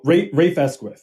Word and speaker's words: Rafe Esquith: One thing I was impressed by, and I'm not sure how to even pronounce his name, but is it Raf Esquith? Oh, Rafe Esquith, yeah.